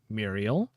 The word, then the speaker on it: Muriel: Uh I know a point of pronunciation oftentimes people pronounce this name Muriel. Personally I had a grandmother whose name was Muriel. Uh but she always pronounced it and the rest of my family always pronounced it Muriel.